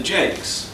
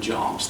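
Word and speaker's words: Jaques: fully realised, concerns Eleanor Jakes. I think it's pronounced Jakes rather than Jarks. I think authorities differ on this, but her daughter always used to say that it was Jakes.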